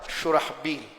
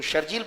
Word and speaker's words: شرحبیل: یہ نام ہوتا ہے شرحبیل. تو شرجیل پڑھتے ہیں، با کے نقطے کو پیچھے گھسیٹ لیتے ہیں، اس لیے کام پھر ایسے کر لیتے ہیں. لیکن جو شرحبیل ہوتے ہیں تلفظ ٹھیک ہوتا ہے، پھر ان کے کام ایسے نہیں ہوتے.